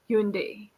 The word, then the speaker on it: Hyundai: Okay, so in USA, like you must have heard the Hyundai car. In India yeah. they say Hyundai, right? Hyundai, Hyundai, Yes, Hyundai. but in Yes, USA they pronounce it as Hyundai, Hyundai. right? And in Korea they say Hyundai. Hyundai, right? Hyundai. So you can see that the word is same, but the pronunciations are different.